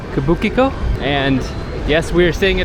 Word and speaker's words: Kabukicho: Folks, we are staying in Kabuchiko. I always say the pronunciation wrong, but I like that pronunciation. Kabukicho.